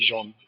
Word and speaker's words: Jean: like very interesting yeah it's a French name actually his name is actually Jean okay okay the way